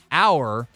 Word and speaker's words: hour: You said our QB can run this system. Well, instead of R rhymes with car bar. Hour, as what he means, rhymes with power hour.